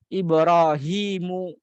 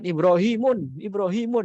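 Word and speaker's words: إبراهيمُ: Termasuk juga Nabi Ibrahim. Ibrahimu. Ya. Nanti biasanya ada orang sok-sokan Ibrahimun gitu kan. Padahal berarti dia belum belajar al-ismul ladzi la yansarif karena enggak boleh ditanwin gitu kan.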